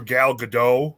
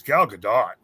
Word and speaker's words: Gal Gadot: it's everybody calls her Gal Gadot but it's Gal Gadot yeah it is not it is she's Israeli she's not French yeah that's what's that's